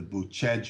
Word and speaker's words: Bucegi: mentioning in in the boot Chege mountains is how you say it but Chad felt bootleg